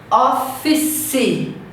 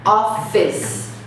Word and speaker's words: office: Então ele acrescenta uma sílaba final que não existe. Então, por exemplo, notebook. O brasileiro fala notebook. Office. Não existe esse CE no final. Office.